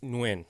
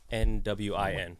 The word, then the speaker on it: Nguyen: I say Nguyen. Nguyen, One right? syllable, Nwin. That's how I say it.